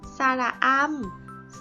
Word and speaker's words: สระอำ: ได้ เรียน รู้ เรื่อง สระ อำ สระอำ อ่าน ออก เสียง ว่า อาร์ม สระอำ เป็น สระ เสียง